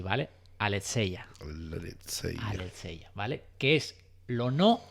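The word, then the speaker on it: ἀλήθεια: En griego se escribe así de raro, pero se dice así, ¿vale? Aletheia, ¿vale?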